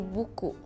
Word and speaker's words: buku: In Indonesian we say buku. That's so cute. Buku. It's like B-U-K-U. It's how it's like written. Buku. And you just read as it is, like buku.